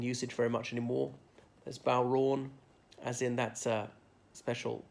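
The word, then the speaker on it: bodhrán: that one's in usage very much anymore as bow wrong as in that's a special musical instruments okay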